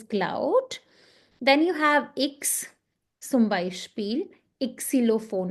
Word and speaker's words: Xylophon: Ixilophone. Not xylophone. It's ixilophone. Okay.